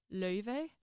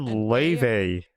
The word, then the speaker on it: Laufey: it's a very, it's a common Icelandic female name actually, but it's two vowels that just don't exist in English. So like in true like clean Icelandic, it's pronounced Laufey. Oh, And You said Leve.